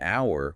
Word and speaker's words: hour: Like, why do we say an hour when hour starts with an h? because the H is silent.